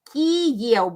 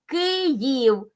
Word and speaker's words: Kyiv: till the latest time, they use the Russian variant of pronunciation, transliteration from Russian, Kyiv. But in Ukrainian, it is Kyiv because Kyiv was the prince of that place and the city belonged to him.